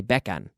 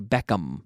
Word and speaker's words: Beckham: Like Spanish people say becan. They don't say Beckham. It's an M. It's like an M like Moncloa. It's Beckham.